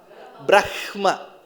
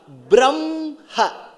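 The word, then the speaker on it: ब्रह्मा: So, ideally, how should you pronounce in the order of writing? Brahma. Correct, because ha comes before ma. But when you pronounce, what takes precedence? Brahma. So that ha sound comes next, ma sound comes before.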